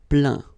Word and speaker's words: plaint: Okay, and as usual, final T here is not pronounced, so you get craint, contraint, plaint.